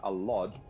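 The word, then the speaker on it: Allod: His actual dad's name is uh Alad, which is spelled like that.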